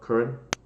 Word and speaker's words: Curran: Is the correct pronunciation Curran or Curran? Curran, actually.